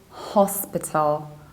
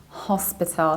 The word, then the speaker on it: hospital: It's not hospital, but it's hospital, hospital. So what happens in the British accent, you stress the very first syllable, not P, and then you reduce the ending. You don't say tal, you say till. So it's hospital, hospital. But in American accent, you should say hospital or even hospital, hospital.